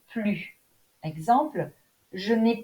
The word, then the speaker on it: plus: On ne prononce pas le S dans la forme négative, ne plus. Exemple, je n'ai plus d'argent.